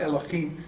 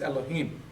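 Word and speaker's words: אֱלֹהִים: There's no chaf in this, so you don't say chaf. It's not Elohim, it's Elohim.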